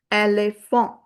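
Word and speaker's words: éléphant: And t is a consonant at the end, so we'll not pronounce it. It becomes ele font.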